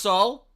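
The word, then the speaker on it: Seoul: answer is yes um it's pronounced soul I see it is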